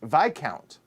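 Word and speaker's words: Viscount: close your ears oh the s in this count is silent it's vi count well thank you for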